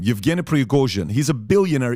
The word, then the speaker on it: Prigozhin: Number one, the guy behind Wagner Group is a guy named, I want to pronounce this correctly, Yevgeny Prigozhin. Okay, Prigozhin, that's his name, Yevgeny Prigozhin.